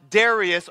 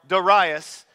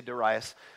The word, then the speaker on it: Darius: Bible says this in the first year of Darius or daras which is the correct PR pronunciation but it's just weird to say daras in the first year of dasas the me